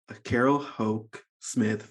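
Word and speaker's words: Carol Houck Smith: Iowa Writer Workshop and a recipient of the Carol Ho Smith Fiction Fellowship from the University of Wisconsin.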